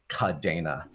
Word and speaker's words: Kadena: with a c and so we pronounce it with the spanish pronunciation which with the a cadena yeah i first got